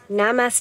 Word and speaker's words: namaste: It's like a different stress on the e.